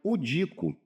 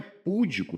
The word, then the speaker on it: pudico: Bom, aqui a gente tem que pronunciar pudico. É uma palavra paroxítona. Não é púdico, pota, não, não tem acento.